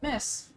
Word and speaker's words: Mrs.: M RS is pronounced R is silent. Miss.